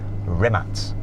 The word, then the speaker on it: Rimac: And thank you very much to Rimac. Though, seeing as I'm now an honorary Croatian, I should say it properly. Rimats.